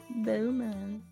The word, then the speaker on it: Beaumont: Yes, But it's just Beau and Mont. It's pronounce it like that. Beaumont.